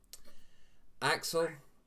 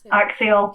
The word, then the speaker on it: axial: Axle, or how do you say it? Axial. You could say it either way. Apparently, like I've been told, it's either. In Britain, the Brits like to say axle, where the Americans and Canadians like to say axial. It's Yeah. spelled like axial, so if you say it Yeah. as you spell it, you know.